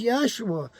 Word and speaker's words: Yeshua: it's not his name his name is Yeshua which means he who saves the anointed the first syllable yah the same as the first syllable of Yahweh yeah and in case